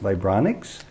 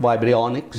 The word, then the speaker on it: vibrionics: The work that you do, I think it's pronounced vibronics. Correct, vibrionics. Vibrionics, and it's unheard of in many corners of the world.